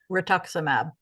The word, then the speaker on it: rituximab: All right, Trace, I always butcher these names up. So what is this one? Rituximab? Rituximab.